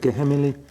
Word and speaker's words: Geheimnis: Geheimnis.